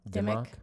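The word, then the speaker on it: Dimock: Dimmock. Dimmock. Like Dimmock cheese.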